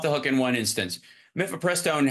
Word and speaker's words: mifepristone: Mifepristone has 4 syllables in it. So he even at Horton, he tapped out at 3.